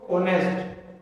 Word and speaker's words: honest: Silent letter है, इसमें एच क्या रहेगा? साइलेंट। आप इसको क्या प्रोनाउंस करोगे? इसको ऑनेस्ट, और ऑनेस्ट में फर्स्ट लेटर क्या है?